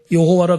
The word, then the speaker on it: 여호와: 성경에 여호와 다른 교단에서는 순복음 교단에서는 야외라 그러는데 야외라 발음해도 되고 여호와라 그래도 돼요는데 자 하나님이 모세가 하나님